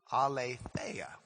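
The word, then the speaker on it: ἀλήθεια: It's a lea. All right. In English letters, we would write that a l e. It's a long e t h e i i a. Ala.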